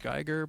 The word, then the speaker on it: Giger: Is it Giger? I think it's Giger. Geiger? I've heard it pronounced Geiger, but I'm not German, so you could almost draw that direct design lineage down, right?